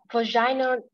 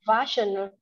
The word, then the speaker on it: vaginal: Vaginal delivery. All right. So the stress is on the first syllable, right? So vaginal delivery. Vaginal delivery.